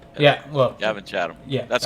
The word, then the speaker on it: Chatham: Chatham. Chatham. I keep wanting to add the extra H in. Just like Chatham, Ontario. Yeah, well. Gavin Chatham.